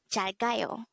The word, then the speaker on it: 잘가요: This is pronounced as a three-syllable word. The first syllable is 잘, second syllable is 가, the third syllable is 요.